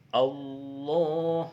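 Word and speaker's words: الله: lam hendaklah dilafaz dengan lafaz tafkhim, tebal. Ini bukan tarsis lah, tebal. Contohnya, id akhadallahu, Allah harus tebal. Raddallahu. Contoh lagi, lan yukhrijallahu. Seperti itu. Kemudian jika huruf sebelumnya berbaris kasrah, maka huruf lam hendaklah dilafaz dengan tipis, tarqiq. Li ghairillahi, tidak boleh dibaca li ghairillah, tidak boleh, harus li tarqiq tipis.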